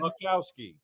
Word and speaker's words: Boczkowski: one, the only, Boczkowski. Hey, guys. You did good. The Z is silent, though. But otherwise, you did pretty good. Much better than I've heard. Boczkowski.